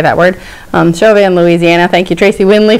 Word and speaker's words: Chauvin: Chauvin, Louisiana. Thank you, Tracy Windley, for the video on how to pronounce towns in Louisiana.